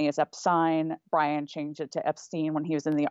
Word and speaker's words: Epstein: epine Brian changed it to Epstein when he was in the Army that's not